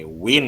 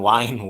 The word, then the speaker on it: wind: Okay, wind ya, bukan wine, wind dibacanya.